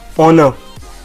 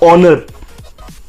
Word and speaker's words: honor: So it's honor, not honor. So its pronunciation is O hyphen NUH, honor.